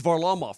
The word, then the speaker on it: Varlamov: Is it Varlamov or Varlamov? It's Varlamov, Nabokov.